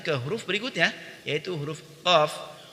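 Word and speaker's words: ق: Kita lanjut ke huruf berikutnya, yaitu huruf qaf. Huruf qaf diucapkan dengan menyentuhkan pangkal lidah dengan langit-langit bagian belakang, yaitu bagian yang lunak.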